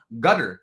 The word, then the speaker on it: Qatar: Are we going Qatar? Are we going Qatar? Right. I keep changing the pronunciation. Like I said, the locals call it gutter.